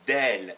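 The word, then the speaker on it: دال: La lettre D, qui s'appelle en arabe del et qui se prononce de, ça a la forme d'un nez.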